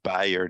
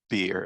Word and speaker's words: Beyer: It's Beyer, not Beer, as I was saying.